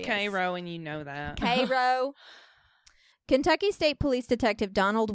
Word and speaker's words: Cairo: i don't love that for you illinois it's pronounced cairo kentucky state police detective donald wilson was put